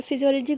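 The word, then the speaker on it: physiology: ये फिजियोलॉजी को किस तरह पढ़ेंगे, इसमें पी एस साइलेंट होता है।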